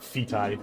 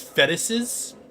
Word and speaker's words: fetuses: It's not feti, but yeah, you're right. The correct pronunciation is fetuses.